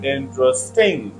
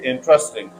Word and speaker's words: interesting: say and if you put stress on third syel it will be interesting but the correct stress is first Sy interesting again people are mistaken they say interesting but the correct is interesting first syllable if a word has